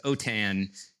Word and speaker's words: OTAN: or Spanish then it's otan is how the acronym is pronounced yeah so it's an